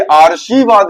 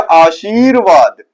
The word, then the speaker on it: आशीर्वाद: ये आर्शीवाद लिखा है, क्योंकि ये ऊपर रा लगता है, इसका उच्चारण पहले निकलता है। ठीक है, तो ये ऊपर रा जो लगता है उसका उच्चारण पहले निकलता है, तो ये हो गया आर्शीवाद, ये हो गया आशीर्वाद। ठीक है, ये हो गया आशीर्वाद। ठीक है, तो ये वाला सही है।